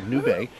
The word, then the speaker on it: Nubé: Most people mispronounce it and called it a noob, but it's a Nubé.